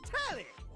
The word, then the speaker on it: Telly: The name's Telly! Rhymes with Nelly. Like, whoa, Nelly!